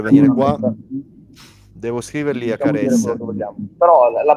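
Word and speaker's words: Kjær: come che è difficile pronunciare come kier non è kier è care che Simon K se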